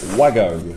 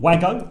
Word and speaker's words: Wago: consistent with correcting him so he's saying waggo i said way go and matthew says vargo vargo fargo so w